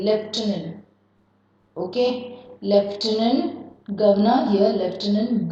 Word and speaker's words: Lieutenant: See the pronunciation. L-I-E-U-T-E-N-N-T. Lieutenant you say. Lieutenant.